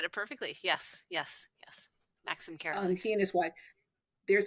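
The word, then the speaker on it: Maxim Karolik: Max Max I'm not gonna say his name Maxim Carol yes you said it perfectly yes yes yes Maxim Carol he and his wife there's a whole story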